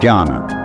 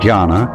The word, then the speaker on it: jhana: So then, this word Zen is Japanese way of pronouncing the Chinese word Chan, which in turn is the Chinese way of pronouncing the Sanskrit word jhana.